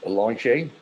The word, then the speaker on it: Eloge: And Eloge, sorry if I don't pronounce your name right, but my name's always mispronounced. It's Eloge.